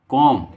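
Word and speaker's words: comb: बाल बनाना, कॉम, कॉम means बाल बनाना, कॉम, कॉम्ड, कॉम्ड, कॉम, कॉम्ड, कॉम्ड, यहाँ के बी क्या है, साइलेंट है, मैं तुम्हारे बालों में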